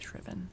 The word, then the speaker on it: shriven: They had they had one uh the Cambridge dictionary had both uh UK and US and it was both shriven.